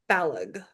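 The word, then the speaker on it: Balogh: I've heard that it rhymes with Kellogg.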